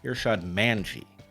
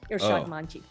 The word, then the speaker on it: Irshad Manji: Well, I mispronounced your name up front. Irshad Manji. Oh, right. You know what? I anglicize it because, it's now a habit. But you pronounced it beautifully from the get-go.